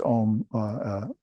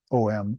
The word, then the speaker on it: Om: they spell that correctly you see it pronounced om om spelled that way but the real correct spelling is au M so a in this